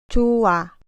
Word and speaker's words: 좋아: 이 글자에서 받침이 히읗이고 뒤에 오는 글자의 자음이 이응입니다. 그러면 히읗은 사라지고 발음하면 됩니다. 좋아.